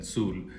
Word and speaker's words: tzul: So, here we have k'uuk tzu and tzul which is actually pronounced k'uuk and tzul for turkey and dog.